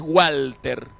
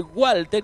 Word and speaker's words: Walter: Pero en alemán se pronuncia como B. Nosotros decimos a lo inglés Walter, pero en realidad el origen de Walter, que es alemán, es Walter.